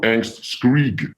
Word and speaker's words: Angstkrig: Angstkrig, so Angstkrig with a G at the end.